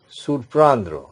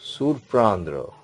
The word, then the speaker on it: surprendre: And another last verb is in this category, surprendre in today's class. Surprendre.